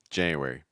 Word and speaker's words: January: our first one first month of the year January January a couple things I want you to